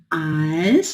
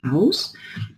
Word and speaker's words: als: Esse als, que é pronunciado as, e não aus.